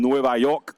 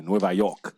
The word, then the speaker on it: Nueva York: coming all the way from Nueva York New York that's how you say it in Spanish by the way Nueva York brothers are coming all